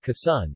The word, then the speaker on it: Quezon: you case on Tagalog pronunciation Kisan is a province of the